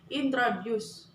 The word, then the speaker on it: introduce: word offload for example the word introduce is pronounced with a stress at the end it's on like this introduce sometimes where you put